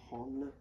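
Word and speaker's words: 本: La pronuncia di questo kanji è Hon.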